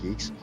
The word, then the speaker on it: Guix: GUIX is pronounced geeks. No, it'd be pronounced GUIX. GUIX. They might want to say that it's pronounced geeks, but it's GUIX.